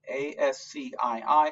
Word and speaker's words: ASCII: And you can see that, again, the American Standard Codes for Information Interchange is called ASCII, A-S-C-I-I. It's pronounced ASCII, and that's all.